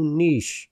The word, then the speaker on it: niche: So go niche. And again, I'm not saying niche. Go niche because it's spelled N-I-C-H-E, not N-I-T-C-H.